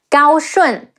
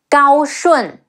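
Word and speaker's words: 高顺: Ong, Rong, Xu Rong, Gao Shun, Ge Ao, Gao, Shi Wu En, Shun, Gao Shun, Huang Fu Song, He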